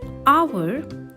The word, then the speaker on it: hour: For example, in the word hour, the H is silent and it begins with the vowel sound A.